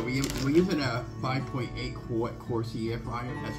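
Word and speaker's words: Cosori: So we're using a 5.8 quart Corsi air fryer. That's how you would pronounce it.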